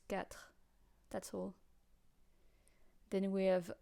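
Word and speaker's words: quatre: and then we have cat which is hard to say as well cat um if you know the name Kine Kine you know you take off the in and goes cat that's all then we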